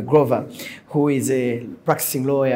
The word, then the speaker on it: Grover: He told me to pronounce it that way, Grover, who is a practicing